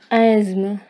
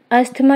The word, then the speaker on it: asthma: Correct pronunciation is asthma. Asthma is an illness related to breathing. Friends, asthma is wrong pronunciation.